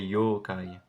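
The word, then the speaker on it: 妖怪: japonaises un peu voilà et d'ailleurs ça se prononcerait yookai mais ça faut étudier un peu le japonais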